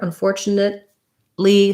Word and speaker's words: unfortunately: in my fortunately video we do a stopped t here unfortunately so i go up to mark the t but i just release right into the l and then my letter